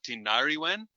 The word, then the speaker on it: Tinariwen: these next two are absolutely they're hard to pronounce. Brand new to me. So is this Tinariwen? So the band's called Tinariwen. Okay. Tinarewan.